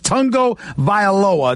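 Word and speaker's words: Tagovailoa: you pronounce I saw a sword on videos Tongo viola that's how he pronounces his name but I'm going to ask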